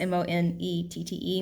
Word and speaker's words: Monette: you probably heard the town monette that's how it's pronounced m-o-n-e-t-t-e monette um leechville uh the